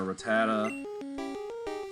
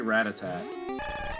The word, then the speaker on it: Rattata: go and our rattata i used to say rat attack when i was younger i don't know why it doesn't end in a t but uh that was my mispronounciation when i was a kid come on quirk if